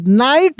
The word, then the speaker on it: knight: तो देखिए, यहाँ पे ये जो के है ना, यह के साइलेंट है।